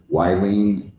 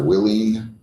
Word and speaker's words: Willeen: So if I forgot to ask you your name or mispronounced your name by calling you Wileen instead of Willeen.